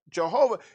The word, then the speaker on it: Jehovah: So when we look at Jehovah, you see a V there, but it's actually a ooh. It's a softer sound. It's not a V sound.